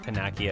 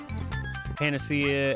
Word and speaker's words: panacea: One of them that I pronounced funny was always I want to say Panacea. I think I pronounced it Panakia as a kid.